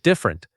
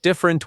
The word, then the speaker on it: different: This word should sound like different. Two syllables, not different with three.